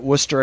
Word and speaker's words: Worcester: You even got Worcester correct, which okay. is great. You usually take 3 or 4 times for that.